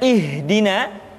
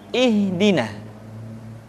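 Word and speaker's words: اهدنا: huruf a ha ha perhatikan huruf ha seringkiali diucapkan dari dada ha ingat di dalam makhjul huruf kita tidak mengenal pengucapan huruf-huruf dada tidak ha tetapi ha tidak ihdina akan tetapi ihdina selanjutnya setelah huruf ha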